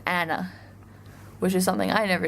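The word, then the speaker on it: Anne: was surprised by and name in Dutch is pronounced Anna which is something I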